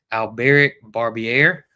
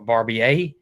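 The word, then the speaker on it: Albéric Barbier: It's Do you say it way different than the way it's spelled? It's Alberic Barbier or Barbier. And that's how you spell it right there.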